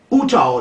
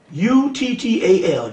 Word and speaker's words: Uttal: You need to get a guy by the name of J-A-I, that's his first name, Jai Uttal. The last name is U-T-T-A-L.